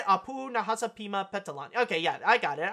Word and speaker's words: Nahasapeemapetilon: name right that's how you say a poo Nahasapeemapetilon okay yeah I got it I got it